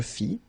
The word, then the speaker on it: fis: Je fis, tu fis, il fit, elle fit, nous fîmes, vous fîtes, ils firent, elles firent. Okay, so one more time. Je fis, final S not pronounced, tu fis, same thing.